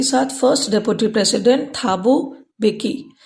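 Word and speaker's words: Thabo Mbeki: साथ first deputy president थाबू बेकी एम का उच्चारण हम नहीं करेंगे थाबू बेकी वास सोन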